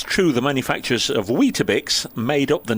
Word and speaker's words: Weetabix: true the manufacturers of Weetabix made up the name out of wheat and biscuit. It's a Greek formed name, so the plural would be Weetabixes. The last syllable is pronounced bees.